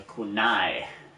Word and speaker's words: kunai: It's a kunai, which is a little tiny samurai sword.